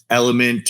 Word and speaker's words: LMNT: Like I use the Element or LMNT, depending who you are. People pronounce it differently.